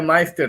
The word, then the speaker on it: Meister: É Meister que fala o nome? Pode abrir seu microfone, Meister. Boa noite, Maurício, tudo bem? Boa noite. É que eu estou confundindo fazendo confusão com a pronúncia do seu nome aqui. Como é que tá as modas? Tudo bem aí? É Meister, sim. É Meister.